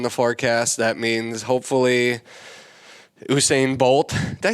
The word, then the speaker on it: Usain Bolt: That means hopefully Usain Bolt. Did I say that right? Did I pronounce it?